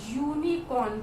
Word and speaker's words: unicorn: Okay, this is unicorn, we write it, if you pronounce it and write it is like UNICORN. It is like, it is not unicorn, it is unicorn. Okay, so it is giving you the pronunciation of Y.